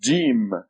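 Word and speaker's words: ج: The next letter is Jim. Jim. And it looks like this. Has a dot right here. The name of the letter is Jim. It is equivalent to G or J. G as in go or J as in John.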